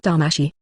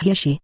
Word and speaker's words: Hiashi: It's not Damashi. It's Hishi. Hyuga Hishi. I just said it wrong!